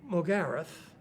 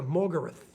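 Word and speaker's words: Morgarath: We tend to emphasise in a 3-syllable word the middle syllable, where Americans tend to emphasise the first syllable.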